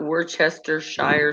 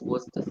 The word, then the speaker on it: Worcestershire: everyone's like catch myself it's not worcestershire sauce it's worcester sauce oh sword what's your